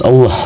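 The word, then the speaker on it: الله: Selanjutnya di sini ada lafaz Allah atau lam jalalah. Maka cara membunyikannya lafaz Allah dibaca secara tafkhim atau dibunyikan dengan suara tebal.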